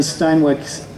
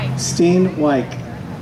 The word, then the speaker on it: Steinwijk: bill, please go see Dan Steinwick's table over here. Claire, I got the name wrong there. Wave your hand. There we go. See right over here. He's got more information on that. Steinwijk. Excellent. Thank you for the correction.